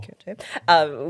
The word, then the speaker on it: Kyoto: So after Kyoto, sorry, how do I pronounce that? Kyoto.